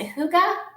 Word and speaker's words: Hygge: Is it Hygge? It's Hygge, yeah.